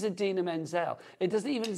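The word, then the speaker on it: Idina Menzel: actually say her name so he introduces her as the wickedly talented and then he just goes Adele de and it's like her name is Adena Menzel it doesn't even sound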